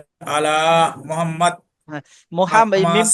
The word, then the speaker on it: মুহাম্মদ: মুহাম্মদ।